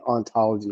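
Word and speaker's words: hauntology: And the funny thing is the funny thing about hontology and ontology is in France the H is is silent. So it's really ontology of ontology.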